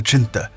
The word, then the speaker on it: chinthe: This unit was eventually dubbed the Chindits, a mispronounced reference to the Chinta, the mythical Burmese lion guarding the region's temples.